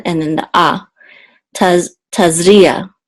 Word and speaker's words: Tazria: Taz Tas foreign we have the iron which is silent and then the ah tazria tazria the accent is on is in the middle